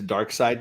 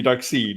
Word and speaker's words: Darkseid: Superman not one man are we gonna get into dark side next because that's not how that should be pronounced it should be dark seed yeah because two vials together British people say Darkseid and again we don't